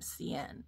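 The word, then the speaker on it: Sian: sent to me and I believe you pronounce her name Cen It's s i a an and she lives in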